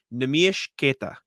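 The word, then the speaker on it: Neemias Queta: Bobby Manning and I were at his event in Quincy, and Bobby asked him, how do you pronounce your name? Nemish Keita. That is the name.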